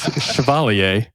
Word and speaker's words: Chevalier: It is Chevalier. I'm sorry. Is that the official pronunciation? That is the correct pronunciation.